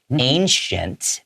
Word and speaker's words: ancient: All right, so I'm going to read this word like you did with the S, okay? Instead of with the CH. Ancient people are also said